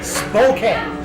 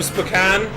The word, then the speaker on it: Spokane: Yeah, no, it's Spokane. Spokane. Yeah, we know, Jenny. We know it's Spokane. It's Spokane. Damn it! Now I'm doing it wrong. But I was doing it wrong because it's funnier because of the cocaine song, because it rhymed.